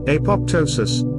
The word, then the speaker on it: apoptosis: Apoptosis, usually pronounced apoptosis, is a biological concept used to describe the self-triggered death of cells in various situations.